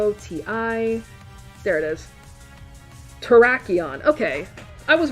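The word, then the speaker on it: Terrakion: Terraon. Okay, I was right somewhat. Traion and that's the same in Japanese.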